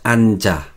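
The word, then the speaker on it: 앉아: verbo sentar siéntate pues en coreano es ancha la separación sería andy no an pero no a la hora de pronunciar como tiene estas dos consonantes debajo debajo pues está consonante tiene influencia a la siguiente sílaba que es la sílaba a entonces a la hora de pronunciar nosotros pronunciamos an an ya han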